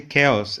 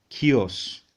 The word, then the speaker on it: chaos: We say chaos. Actually, chaos. Chaos is correct pronunciation.